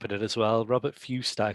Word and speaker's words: Fuest: It's Robert Fuest, F-U-E-S-T. Yeah, Fust. I think, I'm not sure. I take a running jump at it as well. Robert Fust, I call it.